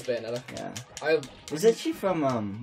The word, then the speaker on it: Bayonetta: I think it's how you say it, Bayonetta. Yeah, it's Bayonetta.